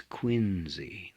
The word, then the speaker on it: Quincy: Lots of people call him John Quincy Adams. It's Quincy. That is the way it's pronounced.